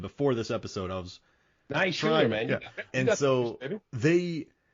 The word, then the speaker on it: Naishuller: So I feel like he and the director Ilya Naishuller, and listen, you heard me learn his pronunciation before this episode. I was Naishuller, man.